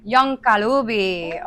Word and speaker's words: Young Kalubi: Yon Kalubi.